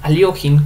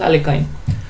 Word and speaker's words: Alekhine: En esta ocasión, un jugador aficionado venció al ex campeón mundial Alexander Alekhine, Aliokhin, como le gustan decir, mi pronunciación favorita es Alekhine, con muy buena partida, muy buen resultado, muy interesante.